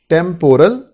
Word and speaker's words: temporal: Temporal, उसकी correct pronunciation ट को ठ बनाया.